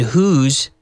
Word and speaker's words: whose: to some people and whose is pronounced the same as the contraction of who is like our sentence here